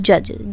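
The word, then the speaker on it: judge: 18th question है, इज the silent letter इन जज। जज में हमारा डी साइलेंट लेटर है, साइलेंट लेटर, ठीक है।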